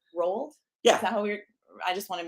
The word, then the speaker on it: Roald: coming up next here at the main stage rolled rolled yeah I just want to make sure we're